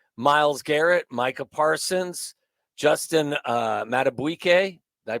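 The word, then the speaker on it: Madubuike: Hunter, Max Crosby, Myles Garrett, Micah Parsons, Justin Matabuike, did I pronounce that correctly?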